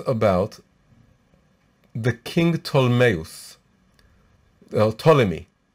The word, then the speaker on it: Ptolemy: the king tolmayos well ptolemy right the math is in greek it's written with a p with an unpronounced fee in the beginning in hebrew it just